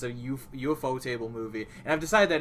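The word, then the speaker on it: ufotable: course because it's a UFO table movie and I've decided that is how you pronounce it because the literal company is based on a table that looks like a UFO so I whatever the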